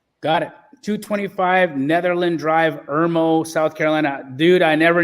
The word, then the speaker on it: Irmo: I'm not sure how to pronounce the name, but it's 225 Netherland Drive, Irmo, South Carolina.